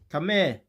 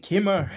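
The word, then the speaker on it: Khmer: he actually pronounce it come here you call it Kimmer it's come here my brother I knew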